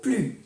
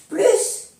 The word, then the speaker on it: plus: Plus ou plus. Ahora lo explico. Plus ou plus. Dans la négation, ne se prononce pas le S. No se pronuncia la S de plus cuando es la frase negativa.